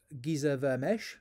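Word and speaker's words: Géza Vermes: And to help us explore this issue, I want to look at this book, Giza Vermesh, is how it's pronounced, The Authentic Gospel of Jesus.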